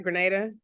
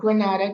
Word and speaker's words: Grenada: uh your journey so from Grenada right Grenada exactly not Granada Grenada 10 points to you